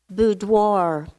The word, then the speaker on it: boudoir: language of origin Italian are there any alternate pronunciations Piazza Piazza P I a C Z a Piazza correct boudoir boudoir may please have the definition a woman's